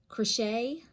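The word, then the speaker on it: crèche: They're called crochet. I'm gonna guess that's how you say it. C-R-E-C-H-E, and it's particularly known in Provence, which is south of France.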